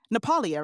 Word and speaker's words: Napoli: how do they pronounce it? Do they say Napolia, right?